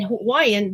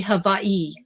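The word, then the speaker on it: Hawaiʻi: So they're they say havi. They don't say Hawaii even though we spell it with a w. And we say Hawaii, but the Hawaiians here they say havi.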